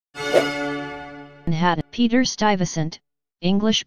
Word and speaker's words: Stuyvesant: and had peter stuyvesant English pronunciation slash stop SNT slash in Dutch also